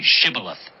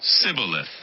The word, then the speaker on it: Shibboleth: "Say Shibboleth." If he said, "Sibboleth." Because he could not pronounce the word correctly, they seized him and killed him at the fords of the Jordan.